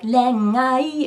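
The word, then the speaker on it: 恋愛: Yeah, and when you're singing renai, typically an is counted as its own note, as its own syllable, so it'd be like renai. It would be sort of like 4-syllable word.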